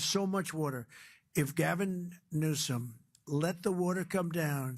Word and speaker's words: Newsom: If Gavin Newsom let the water come down, see the way I pronounced his name properly for a change, if